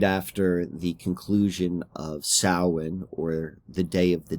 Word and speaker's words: Samhain: Like, the letters are really highlighted because it's so different than how this is pronounced. Like, this is Samhain, but, you know, it would look like it would be pronounced Samhain.